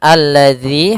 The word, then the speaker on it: alladzi: tersebut tidak dibaca kemudian alladzi hati-hati dalam pelafalan dalal di sini ada huruf Zal bukan huruf Zai ya kebanyakan kita kadang-kadang membaca huruf dalal dengan dengan huruf Zai misalkan alladzi alladzi ah